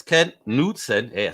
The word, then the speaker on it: Knudtsen: Facebook, and it's Ken nude-sen. Hey, I said it right now. I wrote it down, and I'm gonna break it down phonetically. Nude-sen.